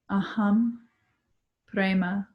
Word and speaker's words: aham prema: Aham prema.